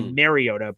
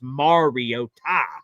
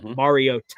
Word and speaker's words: Mariota: So we all say Mariota, but it's Mariota. Mariota is apparently how you're supposed to pronounce it.